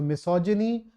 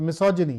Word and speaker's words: misogyny: Just to make it so, misogyny, misogynist. Make sure that you pronounce this G here correctly. So misogyny, yes, absolutely.